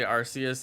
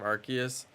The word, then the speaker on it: Arceus: to say it right it makes sense because it's like an arc an arc is a word so it's just like a play off of the word Arc but you know you wouldn't